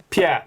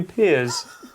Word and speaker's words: Pierre: dinner ladies called you peers? It was extremely annoying, yeah. In South Africa, my name is pronounced Pierre. Peer? Yeah, Pierre. Like the thing that people jump off after they've watched the show.